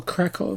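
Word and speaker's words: Kraków: And we'll watch their next game on the 7th of July against Wisla Krakow. Or Krakow, if we're being particular with the pronunciations.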